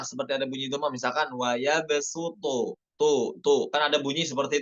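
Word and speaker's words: وَيَبْصُطُ: Kemudian pada nomor 4 dibacanya bukan pakai sod, ya, di Al-Baqarah 245 itu bukan waya besuto, bukan pakai sod, bukan pakai sod, maaf ya, bukan pakai sod, namun pakai sin.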